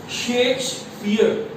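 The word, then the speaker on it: Shakespeare: सबसे पहले आपको इसकी प्रोनाउंसिएशन आनी चाहिए, शेक्सपियर, शेक्सपियर आपने बोलना है इसको, शेक्सपियरियन सोनेट।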